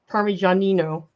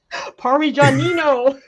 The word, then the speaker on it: Parmigianino: Yeah, don't you remember how easy it was for me to pronounce all those Italian names? Okay, you got to do it now. Parmigianino. What? Parmigianino.